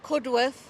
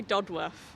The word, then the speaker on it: Cudworth: telling me doddworth goddess dudworth and I'm from cudworth but is it not good and it's not